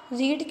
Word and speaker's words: read: अब रीड की रीड की थर्ड फॉर्म क्या होती है? रेड। स्पेलिंग यही रहती है READ, बट इसको रीड हम पढ़ते क्या है इसको?